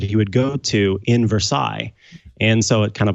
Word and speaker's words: Versailles: I adopted him from a place in Missouri that's spelled Versailles. But everybody in that city calls it Versailles.